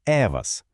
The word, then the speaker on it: Евас: А на практиці існує сервіс, що називається Евас. Тактак, з наголосом на першу літеру.